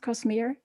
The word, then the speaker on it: Cosmere: impression that that the cosmere is it right pronounced cosmere that is correct yes that's right okay um